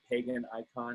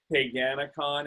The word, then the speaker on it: Paganacon: They called it Pagan Icon in the newspaper. It was really funny, but it's Paganacon. It is spelled Pagan Icon.